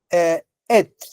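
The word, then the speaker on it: עץ: Et sería la pronunciación.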